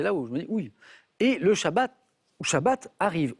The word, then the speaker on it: Shabbat: Et le Shabbat arrive. On peut prononcer le T ou pas.